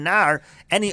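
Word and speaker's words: נערה: you hakol makom shenemar nar. Any other place where it's written as nar, again it's pronounced nara, afilu katana b'mashma.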